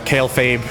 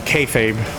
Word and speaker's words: kayfabe: know Alo hello there kale faab or I said kale faab no kayfabe actually is that how you say it's kayf just like the old wrestling term yeah it is in